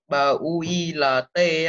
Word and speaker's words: built: Bill là b-u-i-l-t á. Thế thì mình phải đọc là built, nhớ đọc đúng nhá.